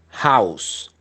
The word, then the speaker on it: house: Casa se pronuncia house. House. Esa H tiene un sonido o es muda. H, house. Esta H no es muda.